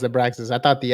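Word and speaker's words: Abraxas: translate that for everybody it's it actually is pronounced a braxas I thought the X was like maybe like a Mexican X where it was like oh like a sound but it's no it's AIS abraxis all right so I put you on to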